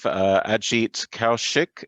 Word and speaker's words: Kaushik: So I'm very pleased today to have Ajit Kaushik. Is that the right pronunciation?